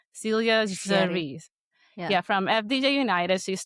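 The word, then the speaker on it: Célia Géry: The phonetic pronunciation says C, as for the last name says CH. So Celia Géry.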